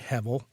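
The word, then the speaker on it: הבל: Hevel, spelled Hebel, but with the B pronounced as a V. There are other images besides soap bubbles that could capture the various experiences behind Hevel.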